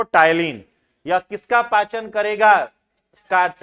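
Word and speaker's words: ptyalin: दोनों एक ही है इसको पटाइन मत पढ़िए पी साइलेंट है ठीक है क्या पढ़ते हैं इसको टाइलिन यह किसका पाचन करेगा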